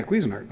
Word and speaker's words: Cuisinart: you said it right is that how you pronounce it yeah cuisinart well now that we're saying it all the